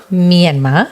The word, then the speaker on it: Myanmar: How do you pronounce that? Myanmar.